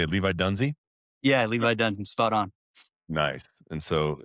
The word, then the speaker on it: Levi Dunsey: Yeah, Levi Dunsey, spot on.